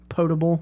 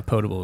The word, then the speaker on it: potable: up with you know potable is that am I saying that right ptable water I think youve said potable before yeah ptable is what I say well you don't